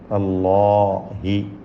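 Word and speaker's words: الله: ഇലല്ലാഹി, അള്ളാഹ് എന്ന ലഫ്ളുൽ ജലാല, അതിലെ ലാമിനെയും അലിഫിനെയും തഫ്ഖീം ചെയ്യേണ്ടതാണ്, തടിപ്പിക്കണം. അല്ലാഹി.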